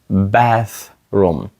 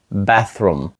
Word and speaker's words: bathroom: Where is the bathroom bathroom таке трішки важке слово до вимови тому що воно має TH bathroom спробуйте повторити bathroom і ціле речення Where